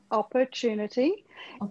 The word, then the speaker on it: opportunity: A small pronunciation correction for you. Opportunity. Correct. Opportunity. If it was an American accent, opportunity. It's okay. Australian. Okay. Opportunity. The second yes. syllabus stronger. Yes, it is.